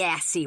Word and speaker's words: Assie: the knob fine Melinda de Assie rhymes with sassy I'll go just don't